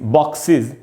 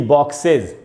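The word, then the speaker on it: boxes: जैसे ये बॉक्स है, उसमें ई एस लगाया मैंने, इसको पढ़ेंगे बॉक्सेस, बॉक्सेस, न कि बॉक्सेज।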